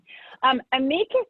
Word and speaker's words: amicus: Amicus is actually the correct pronunciation, but it's so commonly mispronounced that the way that you pronounced it is acceptable. Very few people would realize that you weren't pronouncing it correctly.